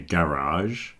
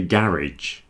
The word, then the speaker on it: garage: And then we come to this one, which some people say garage. I think it's more common in America. They say garage. In Britain, most people say garage with an ij on the end, but there are both ways of doing that word.